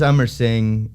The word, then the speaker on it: Emerson: musician's what's your name is it Emerson it is Emerson uh but spelled phonetically because people are always messing my name up and I had this